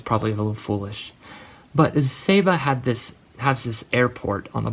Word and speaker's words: Saba: to go to was Saba. It's spelled S-A-B-A. Some people call it Saba.